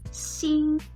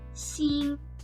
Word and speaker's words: 兴: being excited about something the second form of this character is pronounced in the first tone seeing which means to rise